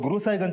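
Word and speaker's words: गुरसहायगंज: गुरसाईगंज सर गुरु साहिगंज को वहां के लोकल लोग गुरु साहिगंज प्रोनाउंस करते हैं।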